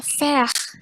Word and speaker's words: faire: Contoh yang kalau ada AI di sebuah kata itu, misalkan contoh AI di kata fire itu dibacanya E jadinya faire gitu.